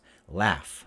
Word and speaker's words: laugh: it more like this laugh laugh even though it's a gh though wife wife wife we